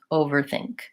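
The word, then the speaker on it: overthink: are to th transition you can always build it from the back by just saying think and then over think over think pretty much I have to I can't really glide very easily from the ER to the th I'm so over think I'm gonna really be saying both of those sounds I'm just trying to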